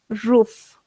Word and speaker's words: roof: Cuando veamos la la doble o se lee u por si acaso, ¿no? La doble o se lee como u roof.